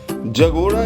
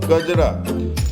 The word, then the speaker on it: Kajra: Jagoda is a mispronunciation of Kajra. Jagora, Kajara.